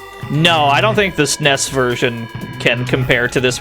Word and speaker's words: SNES: That's far too many syllables, so to me it's the SNES. You got me fucked up. Four syllables in this acronym?